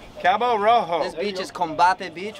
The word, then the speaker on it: Cabo Rojo: Cabo Rojo. Cabo Rojo.